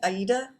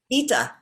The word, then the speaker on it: Ida: Am I pronouncing that right, Heidi? Ida? Ita. Ita.